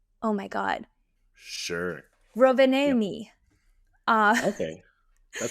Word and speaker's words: Rovaniemi: and then they went to, and I wanna pronounce this right, it's Rov Rovaniemi? Oh my god. Sure. Yep. Rovaniemi.